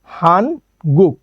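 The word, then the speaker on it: 한국: এর সাথে রস্যু ওকে তারপরে আছে আরেকটা গিয়ক কিন্তু এখানে গিয়ক নিচে থাকার কারণে গিয়কের শেষ বর্ণ ক তাই আমরা নিলাম একটা ক তাহলে কি হলো হান গুক ওকে পরবর্তীতে যেটা আছে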